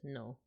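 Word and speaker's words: の: this character means no this is pronounced no and just as RV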